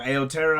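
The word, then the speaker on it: Aotearoa: I'm sorry if I said that wrong. Aoteaaroa, I think is how you say it.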